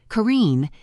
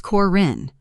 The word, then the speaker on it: Karine: No, actually, my name it doesn't rhyme with chlorine. It's Corin. Rhymes with pin.